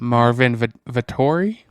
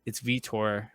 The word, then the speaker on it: Vettori: Marvin Vettori? Yeah, it's Vitor. Like they pronounce it as Vitor or something like that.